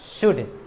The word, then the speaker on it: should: शुड। क्यों पढ़ते हैं? आप कहेंगे एल साइलेंट है।